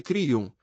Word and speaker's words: Kriyam: Ele é um Kriyam Nama, Kriyam pronuncia-se Kriyam, que se traduz como: minhas ações estão alinhadas com a lei cósmica.